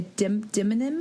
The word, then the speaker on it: demonym: It's spelled like demon-im, like D-E-M-O.